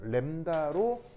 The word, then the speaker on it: 람다: 읽냐 이렇게 읽습니다 알겠죠 정확한 발음은 램브 다거든요 램브 아인데이 이제 자음이 있어서 이제 자음이 바람이 안 나다 보니까 람다 이렇게 반되 람다 람다 그죠 우서가 뭐라고요 다 어